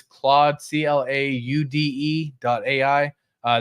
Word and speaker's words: Claude: to anyone who wants to know how to pronounce it it's Claude c-l-a-u-d-e dot a I uh that way you